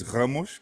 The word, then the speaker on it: Ramos: bitcoiner and pleb Ramos or Ramos how how do I pronounce your last name actually the pronouncing is Ros Ros okay yeah but it's